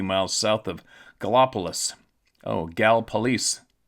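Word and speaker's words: Gallipolis: Oh, Gal police. Gal police is how you pronounce it, but it's spelled G A L L I P O L I S.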